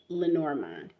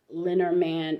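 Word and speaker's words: Lenormand: upper class Society was a Mademoiselle Marie and lenorman now there are plenty linar manned or lenormine decks today that you may find and that's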